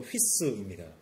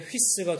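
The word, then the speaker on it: ὗς: 아들은 그리스말로 휘오스이고요. 돼지는 그리스말로 휘스입니다. 발음이 되게 비슷하죠. 아우구스투스가 이렇게 얘기했다고 합니다. 헤롯의 아들이 되는 것보다 헤롯의 돼지가 되는 것이 낫다. 헤롯의 휘오스가 되는 것보다 헤롯의 휘스가 되는 것이 낫다.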